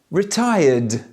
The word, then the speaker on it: retired: Now, when the last sound of a regular verb is voiced, then we must pronounce the ED as D. Retire, retired.